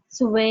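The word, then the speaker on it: xòe: How to pronounce it again? Sway?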